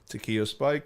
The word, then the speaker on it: Takeo Spikes: Was it Takeo Spikes? Is that how you say his name? Yeah. Is that right? Should Yeah, be. that's right. Yeah, That's what it is. Takeo Spikes.